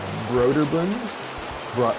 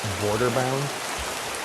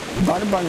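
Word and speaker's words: Brøderbund: All I know is that most of my life I pronounced it Borderbound because I'm an idiot.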